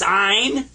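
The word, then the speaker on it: عين: is ina and I you kind of squeeze the back of your throat when you pronounce this one and I was told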